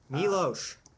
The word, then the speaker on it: Miloš: Miloš Yeah. Forman. Yeah. Danny DeVito makes his. It's pronounced Miloš.